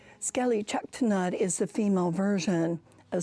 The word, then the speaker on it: Sk'ali Ch'elh-Tenaut: What does her name mean, and can you pronounce it again for the viewers? Sk'ali Chaktanat's name actually comes from the village site where she was captured.